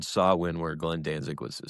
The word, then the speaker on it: Samhain: Sawin. You said it right. I always What? Sawin. Sin. Sin. I don't know what they were saying, but I know. Well, it's spelled Sam Hayne.